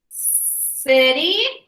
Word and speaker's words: city: Soft C says s, s. Okay, so look here, it's squished, right? Ace, ace, ace, lace, ace, face, ants, dance. We have some more rule breakers over here. These also say scent, circle, city, prince. So these also say that soft C sound in there.